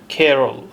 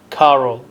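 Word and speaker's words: Carol: كارل كارول مع العلم ان ينطق اسمها كيرول وليس كارول هو المشكله ذي الشخصيتين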